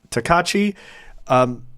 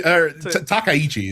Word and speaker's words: Takaichi: Takaichi is how you pronounce the last name.